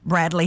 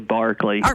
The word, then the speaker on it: Berkeley: us this morning again Bradley good morning good morning it's actually Berkeley Berkeley I'm sorry I think